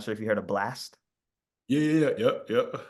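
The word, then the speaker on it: BLXST: I never knew Blast was how you say his name. That's BLXTS.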